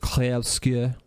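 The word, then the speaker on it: Clair Obscur: I think it's pronounced Claire Obscure. Obscure. Claire Obscure. It's very French.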